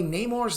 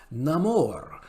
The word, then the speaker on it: Namor: also discuss the way Neymar's name is pronounced in the film a recent clip from the film sees Huerta pronouncing Neymar's name Namor rather than the typical pronunciation of Neymar Moore explained anymore I